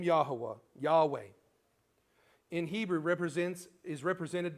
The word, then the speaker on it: Yahweh: have learned that the the pronunciation of J did not exist until around 600 years ago though the name of Yahweh or Yahweh is used 6800 times plus times in the Bible.